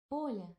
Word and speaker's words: Оля: Оля. Olya? Oh. Oh, no, no, don't undo that. Go back. Damn it. You're still trying to spell 2 syllables instead of 1.